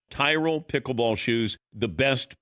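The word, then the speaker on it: Tyrol: It's Tyrroll pickleball shoes. You spell it T Y R O L. Tyrell Pickle Ball Shoes.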